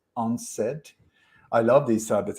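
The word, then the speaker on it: UNCED: was called u-n-c-e-d when when you pronounce it it's unsaid i love these type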